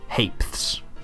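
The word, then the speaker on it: ha'penny: one syllable word world it's pronounced hap the penny HP HP so a half penny is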